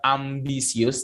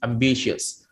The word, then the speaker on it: ambitious: Jadi bukan ambisius, tapi ambitious.